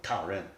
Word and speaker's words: Taoren: Say it like a Chinaman. Taoren. Yeah. Go on, say it. Taoren. Yeah. Because the R's got to be more like Ren.